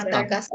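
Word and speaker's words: Madagascar: না, মেদাগাস না, তিনটা আ আছে না, মেদাগাস্কার। তিনটা আ, তারপরে মা দা গাস গা, মা দা গা, মাদাগাস্কার, মাদাগাস্কার।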